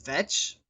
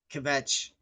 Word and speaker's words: kvetch: I think for kvetch you pronounce the K because otherwise it's vetch. Yeah, I don't know. I think kvetch.